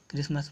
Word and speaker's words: Christmas: दीजिए के लिए क्रिसमस क्रिसमस मिट्टी साइलेंट है इसलिए हम इसको क्रिसमस करते हैं में लिख इलेक्शन में